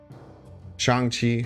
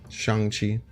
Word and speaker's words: Shang Chi: things out yeah yeah I'm really bad at pronouncing things Chang Chi changchi I'll try and be better with that Shang Chi what did Black Panther do again I took